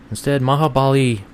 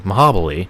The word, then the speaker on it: Mahabali: Instead, Mahabali, I'm sorry, I pronounced that wrong. Mahabali, there we go, Shira, interrupted and basically told him, to shut up, dummy, yeah.